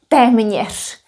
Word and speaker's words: téměř: Well, not to mention that teme nish is a little bit difficult to pronounce. Teme nish. Teme nish.